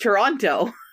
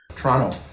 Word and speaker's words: Toronto: I think it's just Toronto Toronto Canadians don't pronounce the T I was kind of